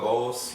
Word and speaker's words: Bowles: Obviously, you had the questionable coaching down the stretch by Bowles.